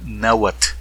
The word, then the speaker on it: Náhuatl: dicen now what's on agua o sea no pronuncian como nosotros o como yo lo estoy haciendo en este momento sino que dicen náhuat ona watts ok o sea si lo aceptamos